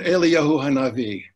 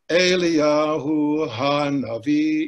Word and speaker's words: Eliyahu Hanavi: And very often, it even comes down to where the word stress is. For example, the tune Eliyahu Hanavi, we think of it as Eliyah, accent on the first beat, Eliyahu Hanavi, even though musically speaking it should be 3-1, Eliyahu Hanavi, which is more aesthetically correct, but if you do